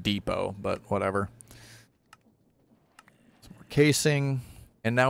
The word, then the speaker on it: depot: it okay now we need to make a dippo which is something to make plates on that's pretty easy actually okay we just make the depo i know it's pronounced depot but whatever casing and now we can make